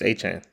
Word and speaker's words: Etienne: It's A-Chain. You think it's A-Chain? He said You think it's what who? he said he pronounced it A-Chain.